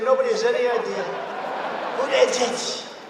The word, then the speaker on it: Buttigieg: Buttigieg. They say edge.